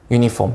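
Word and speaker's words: uniform: 근데 얘가 시작은 뭐로 하냐면 모음으로 시작을 해. 근데 발음은 어때? 발음은 이거 그대로 발음을 영어로 쓰라고 하면 우리는 어떻게 써? 이거를 먼저 쓰죠. 맞아요? 유니폼이니까. 유니폼이죠. 맞아요? 그래서 발음은 얘가 모음이야, 자음이야? 자음이지. 그래서 유니폼이에요.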